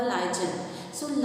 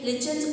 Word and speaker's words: lichens: ये वर्ड सुना होगा lichen. So lichen से ही, lichen plant से ही, depending upon the pronunciation you may say lichens or lichens.